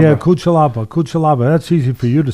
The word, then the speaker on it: Cutelaba: How do you pronounce it? Cutelaba. Yeah, Cutelaba.